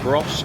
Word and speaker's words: Gros: we are heading to gross or gross that's how you pronounce it area where like the